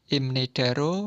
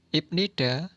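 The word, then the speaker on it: 입니다: Pengucapan atau pelafalan. Ibnidanen. Imnidaro parmi dwimnida. Parmi. Pengucapannya dwimnida menjadi. Ibnida. Pengucapannya menjadi imnida.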